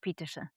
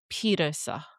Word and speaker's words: Pieterse: So, Rog, on that name, do we pronounce the E at the end of Pieterse? Cuz I've heard commentators say both Pieterse and Pieterse. It's Puck Pieterse. Puck Pieterse.